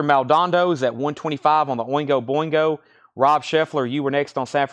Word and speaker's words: Oingo Boingo: Oingo Boingo is at 150. I'm going to start just saying Boingo. Too many syllables there.